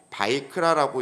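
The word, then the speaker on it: ויקרא: 그래서 제가 월요일날 말씀드리기를 레위기를 히브리어로 바이크라라고 읽는다고 말씀드렸는데요.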